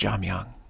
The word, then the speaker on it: Jamyang: It's pronounced Jamyang. Yang is Yang, not Yang. Kind of a soft Yang. Not Yang, but Jamyang.